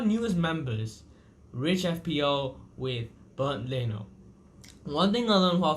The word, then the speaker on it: Bernd Leno: I always thought it was spelled Bernard Leno, but you pronounce it BERND LENO as if it's some sort of German thing.